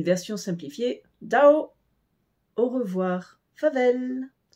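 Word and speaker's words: farvel: simplifiée Dao au revoir favelle F a r V e l le r ici n'est presque pas prononcé donc si vous l'ignorez cela va aussi fa vel pour le Vel ce n'est pas comme E dans l mais plus un e vel favel merci tac t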